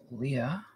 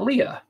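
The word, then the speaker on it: Leigh: fr and leah leia i worked with a girl uh who spelled her name l-e-i-g-h like that um and she pronounced that leah i definitely called her lee for the first couple of weeks that she started there but she pronounced it leah and was happy to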